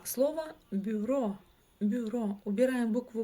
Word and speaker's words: бюро: Например, а слово бюро. Бюро убираем букву Б. И буква Ю звучит в данном случае как ы.